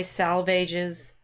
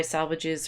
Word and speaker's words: salvages: East Coker the dry salvages I'm not sure how to say that it's supposed to rhyme with the swages down the die salvages